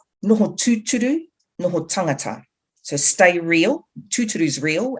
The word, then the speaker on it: Noho tūturu, Noho tangata: see on the screen, that's the Māori language, and you pronounce it Noho tūturu, Noho tangata.